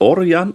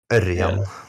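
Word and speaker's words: Ørjan: My Norwegian letters aren't how do you pronounce it in Norwegian? Is it Orion or Örjan? Yeah, Örjan. Örjan.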